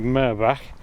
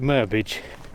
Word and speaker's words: Merbach: Apparently the right pronunciation is the Welsh pronunciation, which is something like Merbach, but people locally call it Merbage.